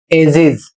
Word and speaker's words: ages: यहां पर अगला शब्द है AGES और इसे पढ़ा जाएगा एजेस, और इसका अर्थ होता है युग।